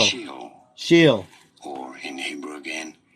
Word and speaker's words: Sheol: Sheol. Pronounce.